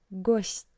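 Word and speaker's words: гость: For example, in the word ghost, which means guest, you can hear that t sounds soft. Not t but ghost, not t, but don't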